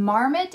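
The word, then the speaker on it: marmot: is a l p i n e and Marmet is m a r m o t hm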